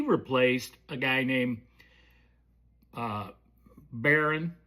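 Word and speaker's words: Behren: and he replaced a guy named uh Baron, but it's not spelled like B A R R O N. It's spelled B E H R EN, I believe.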